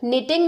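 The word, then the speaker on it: knitting: इस निटिंग अन sweater निटिंग में के साइलेंट है मैं मेहंदी लगा रही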